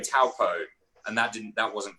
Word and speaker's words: Taupo: Because we were saying taupo, and that wasn't correct. Well, New Zealand's been mispronouncing taupo for years, right. so decades, and so finally we've learned that it's actually taupo, and you're right.